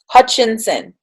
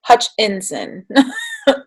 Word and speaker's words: Hutchinson: by sean david hutchinson let me make sure i'm saying it right hutchinson i was like so i never remember like where the vowels fall so it's sean david hutchinson um okay so this